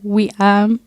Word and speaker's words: Weam: at the point where I've told you guys to call me but that's not how you say my name oh wait so how do you say it there surprise twist it's we um oh so but then